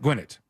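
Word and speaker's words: Gwinnett: to be like that uh gwet Gwinette wait wait no no Gwinnet gnet right it was that right Gwinnet I think is what he said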